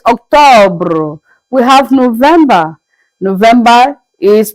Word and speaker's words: October: October is Octobre.